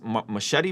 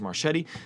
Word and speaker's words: Marchetti: I think that's how you say it. It looks like it's Machete, but it's Marchetti.